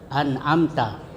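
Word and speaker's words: أنعمت: Jadi mim sukun ya berhadapan dengan huruf ta. An'amta, min mati bertemu dengan ta. Itu izhar syafawi. Cara membacanya ya mim disuarakan dengan terang dan jelas di bibir.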